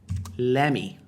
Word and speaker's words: let me: Let me, quando falado por nativos, muitas vezes vai soar como, presta atenção, lemme, lemme, lemme, lemme, lemme, lemme mesmo, como você está lendo ali em português, lemme.